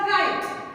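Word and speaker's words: write: W-R-I-T-E. Right. Very good. There is also, we just pronounce R-I-T-E, right. We never pronounce W. So W is silent letter in the word.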